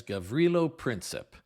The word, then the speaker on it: Gavrilo Princip: with a few names I believe that I'm pronouncing the Assassin's name correctly as gilo prin although I've heard heard it pronounced slightly differently at times I think that's the correct pronunciation if not please forgive me another name we have